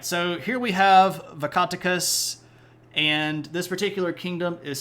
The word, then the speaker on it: Vakatakas: So let's take a moment to talk about Vakatakas. And that is how you say it. It's not Vakatakas or Vakaticus. It's accent on the first syllable and the last syllable.